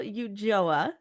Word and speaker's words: Ulloa: it's Tara Elizabeth and Maria here with Michael Yuga did I say that right nailed it yeah